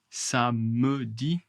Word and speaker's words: samedi: Beaucoup beaucoup de français, la majorité en général en France, on ignore le e. Samedi. Samedi. Samedi. Je ne pronce pas e.